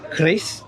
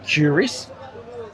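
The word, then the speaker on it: QRIS: supposed to be pronounced Chris like the you know the dagger. It's supposed to be pronounced Chris, but most locals say curis and the letter Q in Indonesian should be pronounced key.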